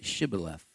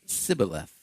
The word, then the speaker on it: Shibboleth: If he said no, then they would say to him, then say Shibboleth. And he would say Sibboleth, for he could not pronounce it right.